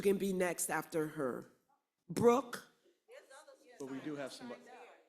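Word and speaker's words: Breuck: repeat your name for us and can you spell it for us because we know it's not the usual spelling. Brooke, it's B R E U C K.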